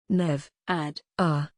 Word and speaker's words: Nevada: around the ideas of coziness comfort and warmth nevada nev ad r the u.s state known globally for its largest